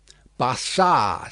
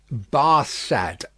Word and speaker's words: Barsad: "Bassard," said Defarge, making it French by pronunciation. But he had been so careful to get it accurately that he then spelt it with perfect correctness. "Barsad," repeated Madame.